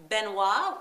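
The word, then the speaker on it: Benoit: know him online on Mini monos Island as benois which is spelled b n oi T it's a French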